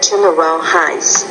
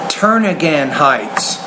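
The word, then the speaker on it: Turnagain Heights: At Government Hill and the Turnaround Heights. Turn-again Heights.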